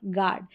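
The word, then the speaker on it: guard: गाइड, guest और गार्ड, यहाँ पर यू साइलेंट है।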